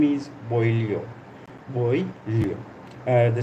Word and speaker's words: Boileau: Boileau.